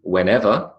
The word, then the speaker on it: whenever: Whenever has a suppressed H, and for me a suppressed R because I don't say the R, so that's suppressed.